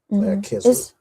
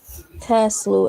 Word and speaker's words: Kislu: The name of the 9th month, you pronounce the CH as a ch? You pronounce it as like a k, like K? well, yeah, like k, Kislu. Is it? I could have sworn it was like Kaslu or something.